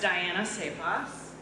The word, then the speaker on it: Dyanna Csaposs: As we know, my name's pronounced Dyanna Csaposs.